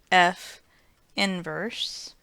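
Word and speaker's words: f⁻¹: the notation used for inverse function and it's pronounced F inverse it's not as this caution says it's not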